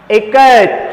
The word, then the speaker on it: ikat: Ikat, how you pronounce? I is pronounced as I in it. I in it. So how can we pronounce? I should be pronounced as I in the word it.